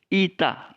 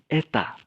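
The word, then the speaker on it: ἦτα: Zita huruf berikutnya adalah Ita nah ini yang yang harus kita pahami ke biasanya orang menyebut ini Eta tapi mereka mengatakan ini eh panjang eh panjang nah Apa perbedaan epsilon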